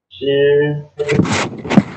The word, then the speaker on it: 十: How to pronounce it? Shi.